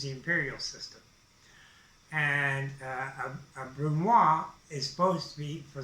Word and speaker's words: brunoise: A Brunoise, well, I shouldn't pronounce the S, it's a Brunoise.